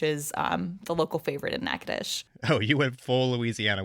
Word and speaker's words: Natchitoches: I mean, you went over to Natchitoches for your story, which, first of all, great job pronouncing Natchitoches.